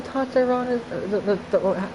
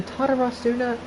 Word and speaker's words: Tatarasuna: He was the one behind the Tatarana, the Tatarasuna incident. That's how you pronounce it.